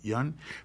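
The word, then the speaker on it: Yeun: How do you pronounce it? Yun.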